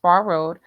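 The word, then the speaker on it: Phrr Road: It's spelled PHRR. It's pronounced Far Road.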